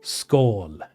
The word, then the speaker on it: skål: Skål! That's how you say it, not skål, skål.